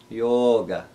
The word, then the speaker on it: yoga: mispronounced the first is yoga meaning union yoga we need to make sure to elongate first long vowel that oh yoga the next would